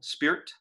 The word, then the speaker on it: spirit: Spirit almost always elides to one syllable, spirit.